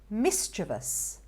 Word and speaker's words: mischievous: get this one wrong many people can call it mischievous mischievous i mean i've not heard a lot of people say that actual right pronunciation for this one is mischievous mischievous and you've got the emphasis on the first syllable there mischievous this one